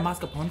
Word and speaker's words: mascarpone: Okay, So while those are in the oven and you're eating Nutella, I'm making the frosting, which this is basically softened butter, mascarpone.